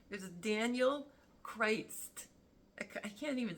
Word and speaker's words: Critz: kind of backwards like Crist you know like with the S sound at the end and it's not just